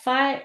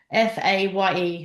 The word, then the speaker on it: Fage: Fire. It's spelled Fage, but it says on the side Faye.